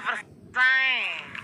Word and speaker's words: Versailles: Bacanya Versailles.